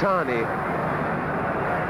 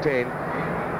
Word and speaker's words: Tane: I believe in New Zealand it's Tani. The difficulty with pronunciations in Britain, of course, the lads call him Tane. We'll call him Tani.